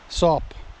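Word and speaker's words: Soop: Well, I call it Dragon Soup, but it's spelled S-O-O-P, so there's no U in it. Sop.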